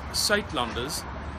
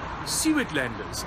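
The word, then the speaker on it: Suidlanders: Okay, it's pronounced Saitlanders, but in English you would probably pronounce it some of the thing like Suitlanders, and this is how you spell it.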